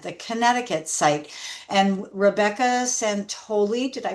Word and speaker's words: Santoli: And Rebecca Santoli, did I pronounce that right? Yes. Santoli of the Tommy Fund is joining us today.